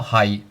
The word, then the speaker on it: 喺: Sometimes we call it hai, but then sometimes you pronounce it as hai. So this word has two meanings and two pronunciations. First of all, hai, which is the fifth tone.